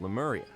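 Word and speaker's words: Remuria: I love the neat little touch that it's spelled with an R but said with an L.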